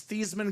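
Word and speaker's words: Theismann: Theisman Grandpa Theisman uh there were theeman excuse me they were pronounced the thasan family right he was known as thieman growing up goes over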